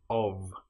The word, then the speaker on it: of: One important example that you should know about is the word of, which is O F. But in this case the F is pronounced like a VV. If we have O f of that then is nonvoiced but the F in of is voiced.